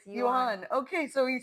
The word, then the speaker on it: yuan: I'm looking up the pronunciation for the yen. How sweet. It's yuan.